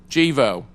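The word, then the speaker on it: Gevo: Jack hunter the executive vice president for commercial and public affairs at devo incorporated said the way it's pronounced jivo jivo incorporate prior to joining jivo he was vice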